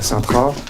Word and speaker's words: Sintra: se passe au Portugal à saintra on va dire pour prononciation la française à saintra de la même façon